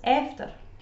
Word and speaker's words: after: As you can tell here, the word "after" is often said as "efter," especially by people with a strong Dundonian accent.